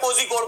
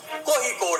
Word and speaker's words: कोझिकोड: इसको हम लोग अभी तक कोझिकोड बोलते रहते थे, ये आयन के लिए मशहूर है लेकिन सही उच्चारण कोझिकोड है।